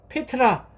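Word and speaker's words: πέτρα: 여기서 반석이라고 하는 말을 헬라 원어로 읽으면 베드로 이름과 발음이 같아요 페트라 우리는 페트라는 헬라를 그드 라고 번역을 했지만 그걸 그냥 그 사람들 식으로 발음을 하면 페트라는 발음이에요이 페트라 하는 말은 아주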